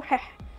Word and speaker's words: حح: أيوة انت سمعت صح، اسمه حح، اللي هو انت لما بتقول حح كده انت كده بتنطق اسم الإله عادي جدا.